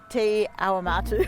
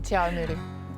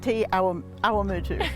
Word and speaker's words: Te Awamutu: How do we pronounce that? Te Awamatu. I never get it right. She sticks to TA, Te Awamutu. Te Awamutu. Very good. Te Awamutu.